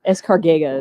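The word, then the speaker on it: Escárcega: Escargega is actually how you say it.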